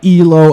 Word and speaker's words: Ealo: This spelled EALO. And this track, I believe that's pronounced ELO.